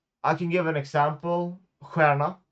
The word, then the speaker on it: stjärna: Stjärna means star. It's pronounced the same as the others, which is really weird, right?